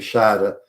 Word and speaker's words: Schade: But the pronunciation is different. Instead of Schade, the sound at the end of the E, it's now shade.